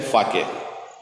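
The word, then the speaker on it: sake: यहाँ पे ये जापानीज वर्ड है, इसका प्रोनाउंसिएशन है फाके. देखिएगा इसको, इसका प्रोनाउंसिएशन फाके है. I wish I हैड अ कप ऑफ फाके.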